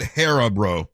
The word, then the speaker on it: Haribo: You pronounce it Haribo.